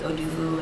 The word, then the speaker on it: Odufu: beautiful brown womanhood African my last name's Oloo that it rhymes with you do do like people would say